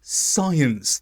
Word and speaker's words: science: it should have been science class and there are many words where this happens science seen descent where C is silent after s although it only applies